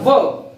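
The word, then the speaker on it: verb: This is नॉट वर्ब। आर is silent. Are कब silent होता है? जब ये वॉल के बाद आता है। वॉल के बाद जब भी आर आता है ये साइलेंट होता है।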